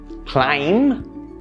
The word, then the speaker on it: climb: Let's look at a few more examples where the B sound is silent. Doubt, debt, climb, thumb, numb. Notice how the B sound was never a part of the pronunciations for any of these words. You never pronounce these words with the B in it.